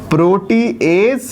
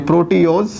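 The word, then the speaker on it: proteoses: लेकिन इन चैन का नाम सुनोगे, इन चैन का नाम है प्रोटीएज, सॉरी प्रोटीओज, प्रोटीओस स्पेलिंग ठीक है, प्रोटीओजिस और पेप्टोन्स।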